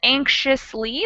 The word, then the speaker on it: anxiously: or anxious or anxiously so the X actually changes pronunciation depending on how we're using the word so anxious and anxiously that X is sort of pronounced like an sh but when we say